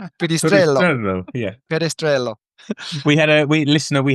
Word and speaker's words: Perestrelo: It's Perestrelo. Perestrelo.